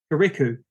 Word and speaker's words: Kirikou: And it is pronounced Kirikou.